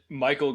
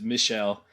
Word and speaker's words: Michel: of the spotless mind i said michael gondry probably 10 times and then i the next day heard it pronounced correctly which is michelle and i'm like of course he's french i should i made it sound like a dumb american name and now every cinephile